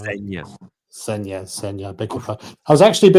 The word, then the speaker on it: Zegna: I think it's pronounced Senya.